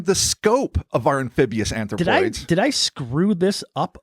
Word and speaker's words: anthropoids: Amphibious anthropods. Nope. Anthropoids.